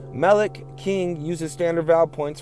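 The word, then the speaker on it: מֶלֶךְ: Now in Hebrew, Melech, king, and Molech, the deity, are spelled the same, MLK, but the vocalization and context differentiate them. Melech, king, uses standard vowel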